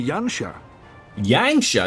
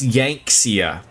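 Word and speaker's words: Yanxia: you will go to yanha yanga no no no that's that's yankia okay yankia say it right please I have faith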